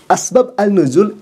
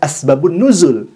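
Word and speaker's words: أسباب النزول: Asbab annuzul itu tulisannya. Sedangkan bacaannya harusnya dibaca asbabun nuzul.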